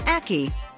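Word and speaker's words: ackee: give you a hint it rhymes with khaki it's called an aki and it happens to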